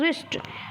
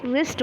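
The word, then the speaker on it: wrist: blue silent होता है फिर है रिस्ट रिस्ट blue are आई एस टी जिसमें ब्लू साइलेंट होता है आप क्या बोलते हो रिस्ट बोलते हो फिर है रिंकल रिंकल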